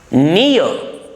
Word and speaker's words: near: Near. The post office is near my house. Near. Or silent. Or must not be pronounced.